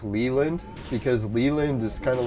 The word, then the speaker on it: Leland: I usually pronounce it Leland when I'm introducing it to someone because I'll say you could say Lee for short.